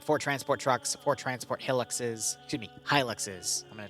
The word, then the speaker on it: Hilux: don't change yep uh one disc static one helix truck and a uh i said it wrong again hilux truck and one bmp one uh according to